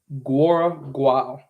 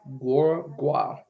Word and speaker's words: Guora Guao: but it is Chief Guora Guao. So how to pronounce that is how you pronounce it, like GWORA. So Guora, and then GWOW Guao. So Chief Guora Guao.